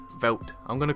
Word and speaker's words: Veldt: Veldt. I'm going to call it the Veldt. I'm not pronouncing a D because it's fucking stupid. Why is there a D there?